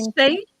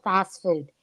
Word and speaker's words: Phosfood: about 5, 10, Phosphate? Is that 5. what you said? It's spelled fast food.